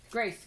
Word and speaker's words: Grace: Grace, g, g, g, g. G, gr, r, r, gr, a. Grace. Grace is actually C and an E at the end. It's a silent E in Grace.